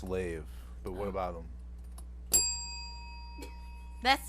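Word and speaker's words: Leif: he was a viking leaf yeah yeah no i thought it was no it was leaf it was leafy wait well ellie i it's pronounced lave but what about them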